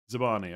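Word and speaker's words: Zabarnyi: Zabani.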